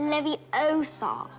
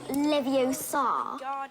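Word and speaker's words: Leviosa: Et tu prononces mal. C'est "Levi-ooo-sa Pas "Levio-saaa".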